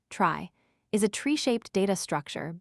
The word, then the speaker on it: trie: A trie, short for retrieval and pronounced trie, is a tree-shaped data structure built specifically for storing and searching strings.